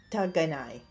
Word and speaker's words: 仕方がない: Shikataganai. Okay. 仕方がない。 Can you spell that?